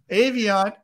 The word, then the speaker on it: Aviant: Ray Smith with Aviant, Aviant, right? It's pronounced Aviant, but I was informed that you and I say Aviant, and it makes it sound better.